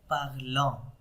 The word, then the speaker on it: parlons: And the here is nous parlons, nous parlons, nous parlons, okay, on s is silent, okay, nous parlons, and vous parlez.